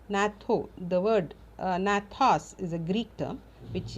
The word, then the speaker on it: gnathos: In fact, G is silent, gnatho, the word gnathos is a Greek term which is nothing but jaw.